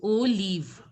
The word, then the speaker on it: olive: But the pronunciation has to be like olive. Olive. So now who will pronounce? Arun Pandian, can you pronounce? Olive. Olive. Olive. It should be Olive. see, I am saying na O, you were pronouncing it right. But live, instead of live, you have to pronounce it as leave. L-E-A-V-E. Leave. O leave.